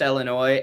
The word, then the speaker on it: Illinois: upset if I point out hey it's actually pronounced Illinois and then you look me straight in the